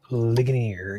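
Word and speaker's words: Ligonier: So, currently it's about 35 miles away from how do you pronounce it? Linggonier. Linggonier.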